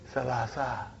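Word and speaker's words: ثلاثة: But in pronunciation we will say Salasa.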